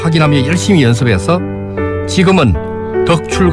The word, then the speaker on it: 덕출: 고민해서 발음하기가 쉽지 않은데 경상도 출신인 제가 제 이름을 얘기하면 많은 사람들은 더 추리 아니라 둑 출 알아 들었습니다 그래서 서울 친구들에게 얼 바람을 확인하며 열심히 연습 했어 지금은 덕 출 과 특출 어느정도 구별되게